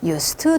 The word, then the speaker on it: used to: 그랬을 때의 요 발음은 스예요.